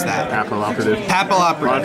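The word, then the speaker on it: Papilloperative: A lot of people don't know how to pronounce that. Papal Operative.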